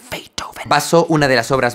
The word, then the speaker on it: Beethoven: Hoy vamos a hablar de la melodía en la que Ludwig van Beethoven se pronuncia Beethoven.